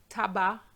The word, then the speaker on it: tabac: Now words ending with a C, silent, banc, which is a bench, blanc, tabac.